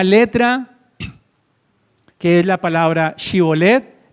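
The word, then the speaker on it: שיבולת: Hay una letra que es la palabra shibolet, empieza con la letra shin en hebreo, shin.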